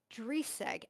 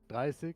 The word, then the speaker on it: Dreisig: And Driseg, and am I pronouncing that correctly, first of all? Driseg? It's pronounced Dreisig, to be honest.